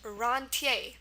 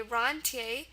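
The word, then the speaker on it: rentier: yep here we go it's pronounced roner because in actual French um it would be pronounced H um and when it's come into English it's just slightly altered now it's pronounced roner okay roner um and it's first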